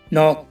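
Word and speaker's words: knock: example है guys जैसे knife knife माने चाकू नॉक नॉक माने खटखटाना नाइट नाइट माने शूरवीर नॉलेज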